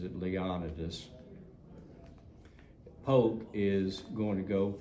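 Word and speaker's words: Leonidas: said Leon do poke and that's how he pronounces it not leonitis he the family pronounces it leonidus poke is going to go from Columbus Kentucky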